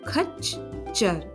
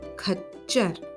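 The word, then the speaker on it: खच्चर: So one ch is half and the other ch is complete. So khachar, khachar. Llama.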